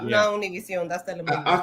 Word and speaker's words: Univision: one of those channels, and watched Univision? That's how you say it. Oh, Univision. That's how you say it. No.